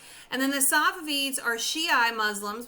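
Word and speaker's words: Shiite: then the safavids are shii muslims we don't pronounce the t really and they are living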